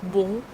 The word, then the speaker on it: bon: Here we have the nasal O sound, bon, bon. How to pronounce it? You start the sound here, you push the sound up and the sound goes out. Bon. Look at the position of your mouth. On, on. You don't move your jaw.